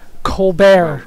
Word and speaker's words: Colbert: Colbert. The other one. The T is silent.